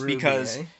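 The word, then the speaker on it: RWBY: It took me a while to actually pronounce it's this Ruby, because of the fact there's a W instead of a U.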